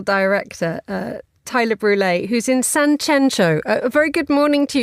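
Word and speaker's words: Sanxenxo: You're in a place that's spelt with two X's. Two X's and much controversy, whether it's San Censo or San Henko, depending on who you speak to. Locals will call it San Censo, and the locals say that it's pretentious people from Madrid who pronounce it otherwise.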